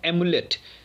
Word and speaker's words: amulet: तो थोड़ा सा प्रोनाउंसिएशन में भी अंतर है और स्पेलिंग में भी अंतर है। सो इसे पढ़ते हैं एम्यूलेट और वो है एमुलेट।